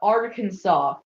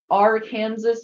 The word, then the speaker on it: Arkansas: fact at least in Arkansas AR Kansas must be pronounced Arkansas what what if you